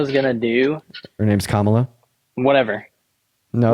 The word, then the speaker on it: Kamala: What do you think Kamala is gonna do? Her name's Kamala.